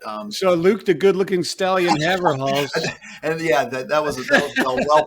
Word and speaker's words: Haverhals: Haverhals? Yeah, that works. If you're in the Netherlands, you might say Haverhals because it means oat's neck in Dutch.